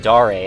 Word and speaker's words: Dare: lot of dare actually ludum dare i was told is the correct correct pronunciation i always called it there no so these red